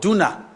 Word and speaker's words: Duna: I went to Budapest with the finance minister, and we went to the river called Duna. That's how they pronounce it there.